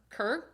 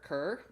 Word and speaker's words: Kerr: scream by margie care kerr margie kerr k-e-r-r i thought i was kind of pronouncing it like deborah carr anyway uh yeah this